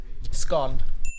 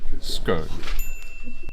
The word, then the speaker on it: scone: Oh, scone. Scone. Scone. Scone. Scone. As you can see, you can pronounce this word as scone or scone.